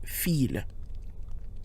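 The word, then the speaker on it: fils: for son fi LS but in this case when it refers to the worth read it's pronounced feel so we have low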